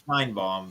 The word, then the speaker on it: Sheinbaum: When I was watching the debate, I heard it like Sheimbaum. Yeah, Sheimbaum. I would say it's Sheinbaum, but you know, whatever.